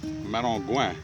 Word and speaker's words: Maringouin: It's spelled Maringuin, but it's pronounced Maringouin, which is French for mosquito.